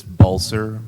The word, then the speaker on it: Balsa: a b dumb yes it's it's balsa like ball and yes sir also